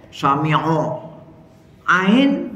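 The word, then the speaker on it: سَمِعَ: jadi jangan samiallah Sami Sami Ain di fathah bukan o tapi a ya Samia samiallahu liman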